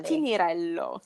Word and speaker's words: Tinnirello: So how do I pronounce that again? So it's Tinirello. Correct. Tinirello.